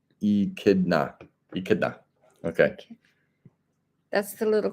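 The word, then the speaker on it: echidna: here my friend and Brun says it is pronounced e kidna eida okay that's the Little Critter that's not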